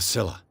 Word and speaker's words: Scylla: The Scylla. It finished up beached at the entrance to the harbor. It's Killa, by the way. Learn how to pronounce it.